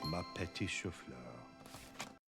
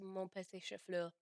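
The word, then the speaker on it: mon petit chou-fleur: And then she says, actually, and what he said is actually supposed to be pronounced mon petit chauffeur.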